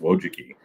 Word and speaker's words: Wojcicki: Don't ask me to spell it, but it's pronounced Wojcicki.